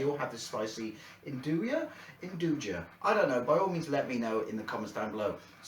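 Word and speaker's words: 'nduja: give this a go they say it's got spicy induja but I believe it's pronounced enduria sausage on it now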